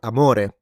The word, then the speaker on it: amore: When we say "amare", what I'm doing is that to love or "amore" love I'm putting the stress on the second syllable.